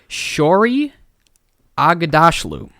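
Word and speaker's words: Shohreh Aghdashloo: The actress who plays the voice of Gozer in Ghostbusters Afterlife is Shori Aghdashloo. Yeah, that's it. You heard it here first. That's if it's not how it's said, now that is how it's said.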